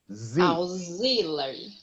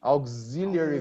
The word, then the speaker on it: auxiliary: The only thing, Erica, is the pronunciation of auxiliary. Auxiliary. Yes, it's like, you know, that photocopying company, we say in English, Xerox, Xerox, okay? So the X is many times pronounced like Z, auxiliary verb.